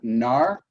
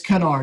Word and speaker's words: Knarr: time guest on rob nar nar ashley it's kanar you actually do pronounce the k on it it's kn when you